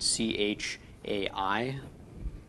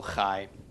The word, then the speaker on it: chai: different English letters so this could be transliterated CH AI but it's not chai is inch I team it is still high so anyway I'm going